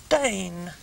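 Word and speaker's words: Daine: Hertfordshire lucky Diane and her name is spelled d-a-i-n-e Dane yeah isn't it I've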